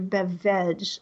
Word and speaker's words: BevVeg: I'm going to say, have you had your BevVeg lately? But it is BevVeg.